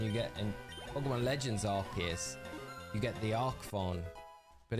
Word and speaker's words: Arceus: Arceus, which is Arceus, obviously. Which I found so funny because when you think about it, when you get in Pokemon Legends Arceus, you get the Arcphone.